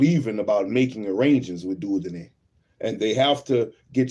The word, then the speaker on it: Dieudonné: be so careful even about making arrangements with Dieudonné. I know I'm mispronouncing. Let's see if I can see that. Let me spell it. Dieudonné. No, that's not him. Dieudonné. The French name Dieudonné is pronounced Dieudonné.